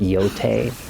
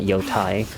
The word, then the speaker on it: Yotei: I So, I apparently I pronounced it wrong cuz it's actually pronounced Yote, not Yotai.